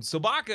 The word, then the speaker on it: sobaka: two other bits from sobaka again thank you so baka your name rhymes with Chewbacca hmm who else it